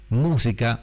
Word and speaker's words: música: Música, mástil, es esdrújula, entonces siempre lleva tilde, y por lo tanto siempre es una palabra esdrújula.